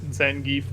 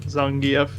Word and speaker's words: Zangief: It's just and- like Zangief is like the English pronunciation, and then Zangief is how you would say it if you were Russian.